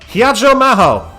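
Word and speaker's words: 比屋定真帆: ヒヤジョマホって読むの。 Hiyajo Maho!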